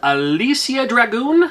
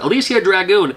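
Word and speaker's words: Alisia Dragoon: This is Alicia Dragoon. I believe it's how you pronounce it. Alicia Dragoon.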